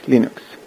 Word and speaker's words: Linux: like his name hello this is and I pronounce Linux as Linux but eventually it got Americanized into Linux after